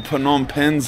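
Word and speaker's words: Phnom Penh: all jokes lad for pom pens lad that's how it's spelled pom pen I don't like the silent P pen P pans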